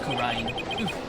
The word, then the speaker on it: Kurin: I got to say it multiple times to remember. It's pronounced Kurin.